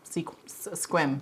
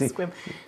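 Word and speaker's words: Sequim: Squim. It's spelled like Seacom, but it's pronounced Squim.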